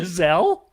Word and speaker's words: Giselle: I didn't know how to pronounce. Okay, here we go. Diana. Thank You mean Phil. Giselle? Yeah. I called her Giesel or Diana?